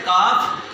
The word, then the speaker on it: calf: काफ। और घुटने को क्या कहते हैं? नी। पिंडली को क्या कहते हैं? काफ। इसमें एल साइलेंट करते हैं, CALF का।